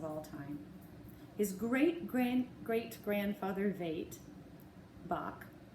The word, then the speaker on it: Bach: time his great-great-grandfather Veit Bach pronounced by the way halfway between the sheep's bah and a dog's bark with the CH sounding as if you were trying to clear your throat was a baker who